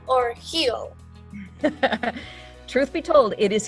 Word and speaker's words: Gil: last name is it gill or heel truth be told it is it is a spanish name my husband is uh